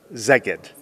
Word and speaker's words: Szeged: But I do need to know how to pronounce the city's name. Szeged. Szeged.